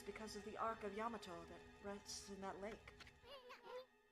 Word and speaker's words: Yamato: Because I know that Japanese just says ah. Ya. Okay. Yamato.